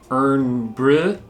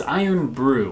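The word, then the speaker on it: Irn-Bru: where we mentioned it we were saying urn breath which is embarrassing they were wrong yes it is iron brew we know that now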